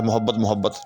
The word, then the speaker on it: محبت: زیادہ بولا جاتا ہے محبت، تو میم کے اوپر جو ہے وہ اصل میں زبر ہوتی ہے، میم کے اوپر پیش نہیں ہے۔ اس کے بعد شمع